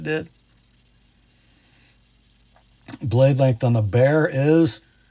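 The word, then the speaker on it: Bexar: The model name is B X A R pronounced bear according to a Texan.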